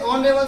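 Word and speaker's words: honorable: तो इससे ऑनरेबल से पहले क्या लिखेंगे? ऑनरेबल में कहेंगे, क्योंकि ऑनरेबल के उच्चारण में एच की ध्वनि नहीं है बल्कि ओ की ध्वनि आ रही है।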